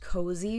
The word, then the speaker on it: Koze: brand called called so it's pronounced cozy but it's spelled k o z e and she was selling